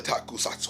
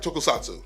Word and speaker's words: tokusatsu: If you don't know, Gridman comes from the tradition of the takusatsu, or tokusatsu, if you pronounce it correctly.